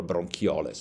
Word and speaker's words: bronchioles: Those are called bronchioles, or bronchioles, if you want to use the Latin pronunciation.